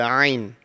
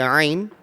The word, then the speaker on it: Ain: One thing to bear in mind when we're pronouncing this Ain, it's one of the throat letters and it should come from the middle part of your throat.